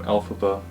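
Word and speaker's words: Elphaba: alabo was created by taking the fanatic pronunciation of the original Wizard of Alice author all Frank bomb's initials lfb which became alphaba so this movie definitely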